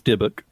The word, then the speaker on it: Dybbuk: One, it is Dybbuk. Yes, and two, I completely screwed up the pronunciation.